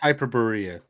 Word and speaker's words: Hyperborea: I'm sorry, it's pronounced Hyperborea.